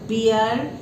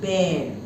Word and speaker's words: bear: please see the pronunciation it is not beer it is bare squirrel and human being